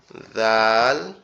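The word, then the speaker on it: ذ: আর জিহ্বার agar থেকে এই যে সামনের দুই দাঁতের আগার থেকে উচ্চারিত হবে জ, জাল, সা, জ জাল সা। জিহ্বার আগার থেকে উচ্চারিত হবে জ জাল সা, জিহ্বার আগার থেকে উচ্চারিত হবে জ জাল সা।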